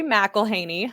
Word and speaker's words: McElhaney: and what do you do yes i'm mcelhaney uh that that's how you pronounce my last name i uh and yeah